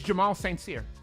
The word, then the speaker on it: Jamal St. Cyr: We've been pronouncing that man's name wrong the entire time, believe it or not. It's Jamal St. Cyr.